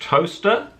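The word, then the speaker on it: Towcester: It's spelt like this, editing for David, but it's pronounced Toaster.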